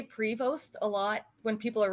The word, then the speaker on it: Prevost: your last name is Prevost. Yep, it's a silent ST. It's French.